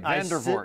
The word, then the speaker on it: Vandervoort: Yes, you said it right, Vandervoort. I said it right. Little V, little d, capital V.